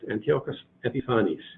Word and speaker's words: Antiochus Epiphanes: period Antiochus Antiochus Epiphanes for Antiochus Epiphanes that's pronounced Antiochus Epiphanes he was the Greek ruler one of well